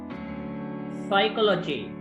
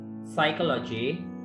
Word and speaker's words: psychology: Psychology. P. P is silent. P is silent. Knowledge. K. K. Silent. K silent. P. Right. The Mewala Bachchan first K. one. Calf. Right. Psychology.